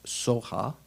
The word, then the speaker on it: svaha: Tadyata is kind of like, is a counterpoise to svaha, the end, which the Tibetans usually pronounce soha.